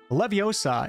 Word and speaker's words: Leviosa: is the famous wingardium Levy osub await it's actually not as it's spelled levioso Leviosa is the levitation charm used to